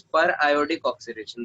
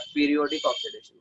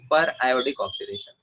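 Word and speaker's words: periodic oxidation: This is पर आयोडिक ऑक्सीडेशन, this is नॉट पीरियोडिक ऑक्सीडेशन। कुछ students इसको पीरियोडिक ऑक्सीडेशन कहते हैं, ठीक है, that is miss प्रोनाउंसिएशन। This is पर आयोडिक ऑक्सीडेशन।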